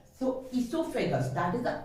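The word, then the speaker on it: oesophagus: O is silent here. So esophagus, that is the correct pronunciation.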